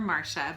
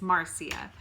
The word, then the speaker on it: Marcia: She gets called Marcia all the time. Yes, it's spelled Marcia, so people call her Marcia, but it's Marcia.